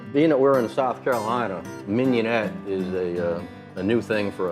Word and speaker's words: mignonette: the words mignonette underneath that is the proper pronunciation and it worked mignonette like I keep this card handy so I